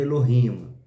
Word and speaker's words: Elohim: é Elohim ou Eloim Vamos ler Eloim mas a a pronúncia certa seria Elohim El nos idiomas semitas